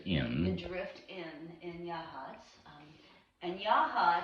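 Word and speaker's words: Yachats: the drift inn in yahats and yaha it's for all y'all not in oregon if you look at the word that looks like yachts y-a-c-h-a-t-s but it's pronounced yah hats loosely after the original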